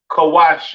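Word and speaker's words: כוש: have Kush all right Kush pronounced Kawai in the Hebrew all right uh famous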